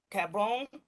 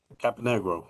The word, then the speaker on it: Caponegro: Sonia, member at large Cabron. Did I say that right? Might have said it wrong. Caponegro. Caponegro, thank you.